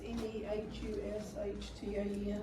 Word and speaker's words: Nehushtan: It's Nehushtan. I'll call it Nehushtan. Yeah, very good. Nehushtan.